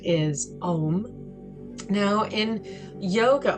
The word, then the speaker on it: Om: The sound is Om. Now in yoga, although it's written OM, it's pronounced AUM.